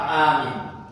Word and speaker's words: amin: Wa fi amin lughatan, ada dua bahasa atau dua cara baca kata amin. Al-mad wal qasr, bisa dibaca panjang amin, bisa juga dibaca pendek seperti kata awah pendek ya